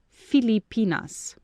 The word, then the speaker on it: Filipinas: chair at you you yesterday you pronounced it even better in the modern style but now it's proper to pronounce it like an ancient feli i mean filipinas remember that i am